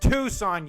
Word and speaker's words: Tucson: My mom listens to me spell it and she goes, "It's pronounced Tucson, you dumbass."